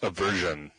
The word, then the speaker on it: Obversion: Um, so yeah, that's a version if you you want to practice saying that.